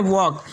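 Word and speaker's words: walk: उसके बाद में वुड के बाद में शुड के बाद में कुड के बाद में वॉक, इस तरह से इसे प्रोनाउंस करा जाएगा।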